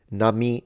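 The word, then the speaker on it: 波: Nami means wave. It's pronounced ha when in combination, kanji, multiple kanji combination.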